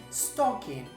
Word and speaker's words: stocking: Spanish speakers because when when we pronounce a word that starts with an S we tend to say for example a stocking no avoid that and we can say stocking stocking so similar to stocking